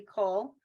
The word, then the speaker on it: כל: That's a Kamatz Katan. She pronounced it correctly. Cole.